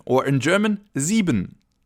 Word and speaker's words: sieben: And then we have 7, or in German, sieben. Sieben. The letter combination I-E is pronounced like a long E sound, as in double E in English, sieben.